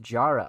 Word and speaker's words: Jara: 20, pronounced Jara.